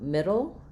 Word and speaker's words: middle: So, um, middle is a flap just like it sounds exactly like the word little.